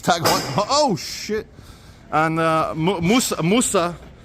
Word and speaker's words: TAG Heuer: As we pass Truda Tag Heuer, I used to pronounce it Tageur. It's Tag Heuer.